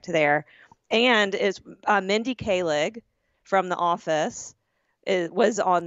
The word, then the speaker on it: Kaling: Kaling.